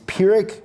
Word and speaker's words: Pyrrhic: pyrrhic victory pyrrhic victory even though it's not spelled like it sounds that's how you pronounce it is pyrrhic victory and it came from